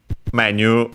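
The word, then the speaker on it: メニュー: its accent but uh unlike French uh it's accented in Japanese on the first syllable so menu of course in all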